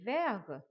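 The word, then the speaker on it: vert: green you would say verg verg the last letter t we will not pronounce el a desir vergo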